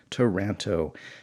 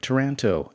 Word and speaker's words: Taranto: find there or who finds him there but toronto hey look at that I pronounced his name right: "Taranto!"